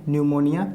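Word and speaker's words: pneumonia: तरह से लिखते हैं न्यूमोनिया पीस साइलेंट होता है अच्छा ठीक है मैं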